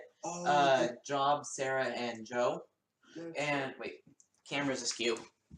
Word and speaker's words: Job: there's this narration problem job I know it's pronounced Joe but I like to pronounce a job cuz that's how it supposed to be pronounced